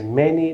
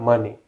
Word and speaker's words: many: much with plural so the correct pronunciation is many not money and finally basically basically